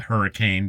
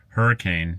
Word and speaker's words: Hurricane: Now, they're out of Hurricane, Utah, and it's spelled hurricane, but if you go there and say hurricane, they'll know you're a visitor, because the locals pronounce it hurricane.